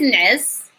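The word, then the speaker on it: نعس: So the verb is nes. Number 3 is sounds like a vowel.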